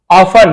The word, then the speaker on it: often: वह मुश्किल से मेड अ लिविंग यानी जीविका बनाता था या कमाता था, एंड और ऑफन, यहां पे टी साइलेंट, ऑफ्टन नहीं पढ़ेंगे, ऑफन पढ़ेंगे।